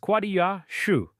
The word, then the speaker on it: Quassia chips: Quassia chips, pronounced quah-dee-ah shoo, shavings from the wood of quassia amara, a small tree native to Suriname.